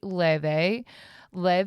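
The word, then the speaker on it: Laufey: Let that sink in. Okay. Um, so next topic, um, I had gotten tickets to see Le is a beautiful, she is a beautiful artist.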